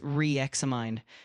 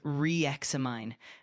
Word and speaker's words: reexamine: Uh the word is pronounced as reexamine with the emphasis on the second mine.